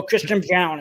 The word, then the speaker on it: Christian Braun: Oh, Christian Brown is how it's pronounced, but from Kansas.